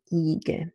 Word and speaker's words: Igel: I as in Igel. So you say Igel, Igel. You see my lips are my mouth is not open. My lips are a little bit spread, but there's not tension in the lips. There is tension inside of my mouth. It's a static vowel. It's a flat static vowel with tension in the palatal muscles.